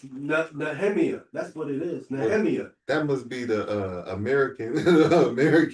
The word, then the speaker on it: Nehemiah: I think that's Nehemiah. That's how it's supposed to be pronounced.